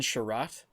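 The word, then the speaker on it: Chiarot: to the ice by a hit from Ben Sherratt. Correct me if I'm pronouncing that wrong.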